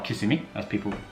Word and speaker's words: Kissimmee: So we have visited Old Town Kissimmee, or Kissimmee as it's pronounced.